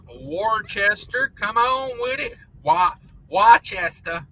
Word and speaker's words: Worcester: Worcester. How do you say that in Massachusetts? Don't they call it just Worcester?